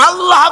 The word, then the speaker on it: আল্লাহ: আল্লাহ মুখটা একটু গোল হয়ে যাবে বলেন আল্লাহ আল্লাহ